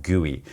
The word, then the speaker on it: GUI: a graphical user interface or really call it guey for short even though it's GUI we pronounce that guoy so you're interacting with a guey on most